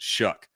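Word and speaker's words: Shough: now, it ain't Tyler Shuck. I promise you that. And that is how you pronounce it, Shuck.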